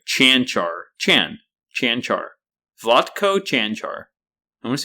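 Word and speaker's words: Vlatko: no let them vlot vatco it's vatco canar he's Slovenian so C andc and he has like a little upside down triangle over both the Seas if you know what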